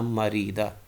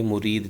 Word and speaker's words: مُرِید: شکر رحمہ اللہ کے مرید تھے، تو مرید کہیں گے تو اس کا معنی ہوگا وہ سرکش تھے۔ تو صحیح تلفظ مرید ہے، نہ کہ مرید۔ تو اس دونوں میں فرق